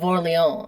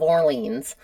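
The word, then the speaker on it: Orléans: I feel like they should just appreciate that I say the Duke of Orlon and I don't say the Duke of Orleans because if I was talking in my American accent, it's the Duke of Orleans. That's not how they say it in France.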